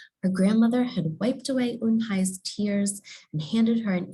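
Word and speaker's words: Unhei: No, Unhi corrected. It's spelled U-N-H-E-I. It's pronounced Unhi.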